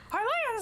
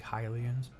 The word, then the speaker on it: Hylians: Highlands like you need this sort of thing, right? I realized I've been pronouncing that wrong. It's actually Hylians. Whatever. I pronounce it Hylians.